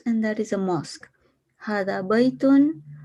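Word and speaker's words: هذا بيتٌ: that is a mosque hadabyton is pronounced with an alif but it is written without the alif the word were is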